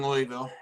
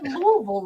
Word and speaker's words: Louisville: At least he didn't pronounce the S. He didn't say Louisville. So You No, didn't I say never did that. Louisville.